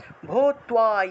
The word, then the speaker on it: ভূত্বা: ইয়েষাম চ ত্বম, ইয়েষা যেষা আছে উচ্চারণ হবে ইয়েষাম চ ত্বম বহুমতো ভূত্বা, তার নিচে বফলা থাকায় তুয়া উচ্চারণ, ভূত্বা ইয়াস্যসি, যাস্যসি আছে উচ্চারণ হবে ইয়া, ইয়াস্যসি লাঘবম, লাঘবম।